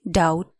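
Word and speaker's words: doubt: भन आई डाउट इट डी ओ यू बी टी डाउट बी को उच्चारण हद साइलेंट हु्छ यो लेटर डी ओ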